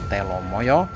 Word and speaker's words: Telomoyo: atau teh lama ya dalam bahasa Jawa penulisannya pengucapannya Telomoyo maka Berikut ini adalah kita akan berbagi pengetahuan